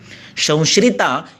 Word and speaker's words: संश्रिता: संश्रिता ये भी श है, श नहीं है, संश्रिता।